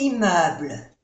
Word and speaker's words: immeubles: Aquí hacemos la unión. Les immeubles. Y se pronuncia E. Immeuble. Y no se pronuncia la S de plural.